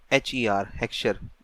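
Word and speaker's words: Heckscher: आज की जो हम यहाँ पर स्टार्ट करेंगे वो है हेक्सचर की ओलिन्स फैक्टर एंडोमेंट थ्योरी, HECHSESCHER हेक्सचर, यही प्रोनाउंसिएशन होनी चाहिए।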